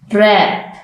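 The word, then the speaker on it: wrap: अब हम silent W के वर्ड्स देखते हैं। राइट, राइट, लिखना। रिस्ट, कलाई। रैप, लिपटा हुआ। रॉन्ग, गलत। इन सब लेटर्स में आप देखें, वर्ड्स में आप देखें कि जो डब्ल्यू का लेटर है वो साइलेंट है।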